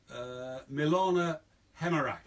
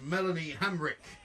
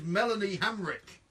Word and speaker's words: Melanie Hamrick: mother of his last child, we're talking about Milana Hemerak. Incorrect. No! It is Melanie Hamrick. Well, come on! Oh, come on! Milana Hamrick.